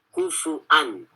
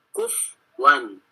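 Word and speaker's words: كُفُوًا: Kufu'an, ya. Selain hamzah bacanya kufu'an. Wa hamzatu waqfu biwawin. Kemudian hamzah ketika waqaf bacanya dengan waw. Kufwan, huzwan, huzwa, kufwa, ketika waqaf aja.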